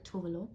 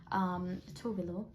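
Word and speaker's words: Tove Lo: Oh, sorry, Tovlo. Tovlo. That's how I used to say it. Anyway, you can Google it. That's how she pronounces it.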